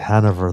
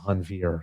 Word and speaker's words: Hanveer: I think I said Hanover the first time rather than Hanveer, so I'm so sorry.